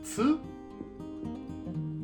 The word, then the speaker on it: つ: Aquí no es tu, es tsu.